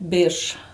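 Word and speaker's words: birs: say Quin in Hungarian Bish B yeah am I getting that right b b a little sh in there you have this beautiful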